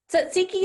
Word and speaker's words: tzatziki: Tzatziki is a tricky looking word, but it's really pronounced just like it's spelled. Those T's and Z's might look a little strange, but tzatziki is from